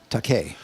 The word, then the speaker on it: Takei: How do you pronounce his last name? Takei.